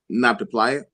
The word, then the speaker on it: Nabta: So, does it include documented procedures or just outcomes as far as this not to, how do you pronounce that? Nabta.